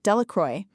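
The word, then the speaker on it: Delacroix: Bobby and Harry Jones and Dicky Delra, the villagers pronounced this name Delacroy, eventually made a great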